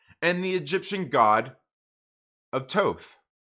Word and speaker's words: Thoth: the egyptian god of toth pretty sure that's toth i think the that first age is silent i could be wrong it could be thoth i'm pretty sure it's tote like most other works attributed